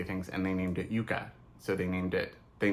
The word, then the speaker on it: Yucca: interest with so um Americans say Yucca um there's like the Yucca Mountain that's how Americans say it the name comes from I say Yuka um but that is also because that is the Spanish way to say it so the name comes